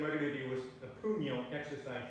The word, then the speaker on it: puño: And the third way is the end of the stick called puño, in Filipino martial arts.